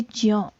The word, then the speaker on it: ज्ञ: ये सही जो उच्चारण है इसका वो है ज्यो, ज्ञ नहीं होता, ज्यो होता है सही उच्चारण, ठीक है।